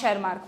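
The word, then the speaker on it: Tschermak: Hugo रिवरीजो एंड वॉन शेर मार्क पूरा-पूरा नाम ध्यान नहीं रहे तो डी वरीज कोरेंस और शर मार्क याद रखना टी साइलेंट है यहां पे हम और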